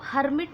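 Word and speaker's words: hermit: देखिए ये हाँ यहाँ पे आर आ रहा है, लेकिन आपको इसे हर्मिट नहीं पढ़ना, हर्मिट पढ़ना है। ठीक है, दिस इज साइलेंट, हर्मिट।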